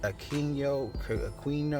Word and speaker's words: Aquino: My man, Aristides, that's how you pronounce it. Aquino, that's how you pronounce it.